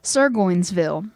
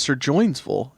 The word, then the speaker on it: Surgoinsville: No, it's Sir Joinsville. You just said that. It's Goin, like Sir Goinsville.